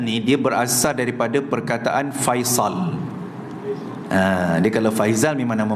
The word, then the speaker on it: Faisal: Tapi mungkin orang Melayu dia susah sikit, tergeliat sikit nak sebut sod, dia jadi zai, Faizal. Tapi asal usul makna Faisal.